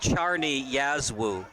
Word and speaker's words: Czarni Jaslo: So that was according a to Recruit Links, the team name, it's pronounced Czarni Jaslo.